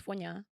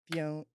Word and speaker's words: Fonya: name was, which is Fonya. Fonya. Fonya. You're doing so good. Fonya. So Fonya. 2 syllables. Fiona.